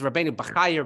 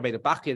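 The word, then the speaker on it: Rabbeinu Bahya: Now this is Rabbeinu Bechaya, Rabbeinu Bachya, depending on how you pronounce it.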